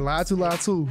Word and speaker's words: Laiatu Latu: Laiatu Latu.